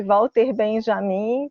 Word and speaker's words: Walter Benjamin: Walter Benjamin, No Brasil, nós aportuguesamos o sobrenome, então eu vou não utilizar a pronúncia em alemão, vou utilizar a pronúncia em português, então eu vou chamar de Walter Benjamin, que é como ele é chamado aqui no Brasil.